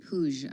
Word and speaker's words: Puig: Oh, so that's how you pronounce it, Puig.